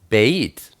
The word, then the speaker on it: Beit: alive two and one be is pronounced like a be such as baby it's sometimes pronounced like a v as in Victory it's the picture of